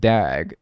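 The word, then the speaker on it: דג: The Hebrew word for fish is pronounced dag.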